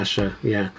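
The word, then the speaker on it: Ayesha: That's how it's spelled, but it's actually explained in the book that you pronounce there's a footnote that says Yeah. Asha, and I always remembered that.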